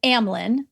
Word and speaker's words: Amylin: So it's Amylin, that's how you say it, and Symlin.